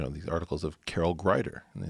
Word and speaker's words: Greider: I said, you know, these articles of Carol Greider. And they said, how do you spell glider, like the plane? I said, Greider, like the Nobel laureate.